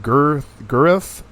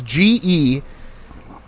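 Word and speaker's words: Guelph: Gurth, Ontario? How do you... It's GELPH, Ontario. How do you say that?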